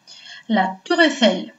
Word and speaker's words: La Tour Eiffel: La Tour Eiffel. Какие правила чтения нам здесь встречаются? Первое правило чтения – это «ОЮ» читается как «У». И «э-э-и» читается как «э».